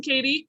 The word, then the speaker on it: Keady: yes okay okay because well our spellings are similar but the pronunciations are way different so megan and katie don't forget that you